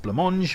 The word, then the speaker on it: Blancmange: Next up we have Happy Families by Blancmange from 1982, which was the new wave pop duo's debut LP. And yes, I am messing around. I know it's pronounced Blancmange.